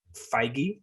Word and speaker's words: Feige: Kevin Feige, did I say it right?